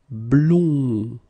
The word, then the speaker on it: blond: And it's same thing nasal, it goes in your nose, and then your mouth should be like really round. Blond, blond.